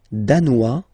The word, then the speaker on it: danois: Le Danemark, danois, danoise, z, hein? Okay, insist on that. Danois, don't pronounce the final S, danoise, here you pronounce it.